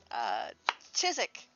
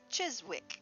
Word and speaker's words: Chiswick: clipping it sweetheart um chizik is should be pronounced chiswick because that's how it's spelled and yet they don't they pronounce it physic i learned that from